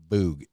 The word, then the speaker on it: Voogd: o o g d d is silent the d is not pronounced boog i'm sure you have